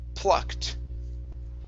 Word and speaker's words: plucked: up is pull plucked plucked propped okay give me a pl you hear you're saying pro proct with an r it's pull let your tongue touch the top of your mouth pull plucked plucked rock okay